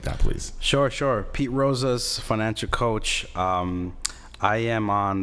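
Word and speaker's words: Rosas: again your name again because the average person it's gonna think is speed Rojas or Rosa knows less it's P roses roses roses is spelled ro SAS Pete Rose's and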